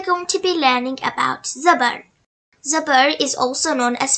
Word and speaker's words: Zobor: It sounds like as in the word car. Zobor is pronounced by opening the mouth and raising the voice. Please remember not to stretch the sound of the Zobor too much and say Hamza Zobor